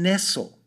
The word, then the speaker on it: Nestle: And this book by Marion Nestle. Interesting that, it's spelt exactly the same way as Nestle, but she wrote a